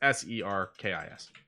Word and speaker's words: Serkis: It's an S. Sorry, it's Serkis. Serkis. Yeah. So it is like it sounds.